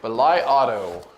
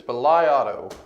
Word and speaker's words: BLIAUTO: our good friends at belai Auto hopefully I'm saying that right I have done some extensive search to find out how to pronounce them I believe it's belai Auto so that's what we're